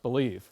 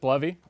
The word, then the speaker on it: Bleve: bovy what is this I thought it was pronounced believe uh and i' every I would say 5050 people I run into pronounce it bluy or believe uh I pronounce it bluy uh but anything you want to pronounce it